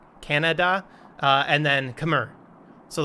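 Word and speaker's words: Kannada: sinhala and this one it literally sounds like canada k-a-n-n-a-d-a canada uh and then khmer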